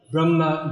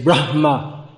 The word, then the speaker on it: Brahma: see hm again uh strict sanskrit speeches they'll strongly aspirate that asia and say brahma although in modern indian english it the heart doesn't sound much at all but if we do pronounce it more it's better brahma lord brahma not